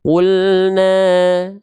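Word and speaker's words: قُلْنَا: Mad thobii di sini enggak dibaca dua harakat, tapi cukup dibaca satu harakat saja.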